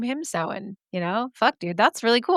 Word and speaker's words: Samhain: And in parentheses, she says, yes, Samhain.